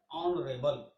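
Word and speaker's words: honourable: अब आता है ऑनरेबल। ऑनरेबल में एच साइलेंट है, बाकी जो बचा है वो कॉन्सोनेंट है, वो वोवल है। एच को हटाने के बाद ओ, ऑनरेबल ओ से बनता है, इसलिए इसमें एन लगाएंगे।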